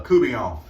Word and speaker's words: court bouillon: I'm going to learn to cook what they call down here a coubillon. And if you look it up, it is actually spelled court bouillon, but it is pronounced coubillon.